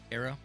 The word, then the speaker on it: Cairo: how' you say it KO okay I always called it Cairo like Egypt yeah it's depends on